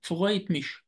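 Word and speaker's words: freut mich: بالمناسبة انا ممكن اقرا حرف الار هنا، ممكن اقراه زي الغين، اقول فغايت مش، فغايت مش. وطبعا دي عباره عن لهجات زي ما اتفقنا ان كل مقاطعه او كل منطقه بتقراها بشكل، ولكن حرف الار في اللغه الرسميه لو جه قبليه، لو جه بعديه حرف متحرك بينطق زي الغين، فغايت، فغايت مش.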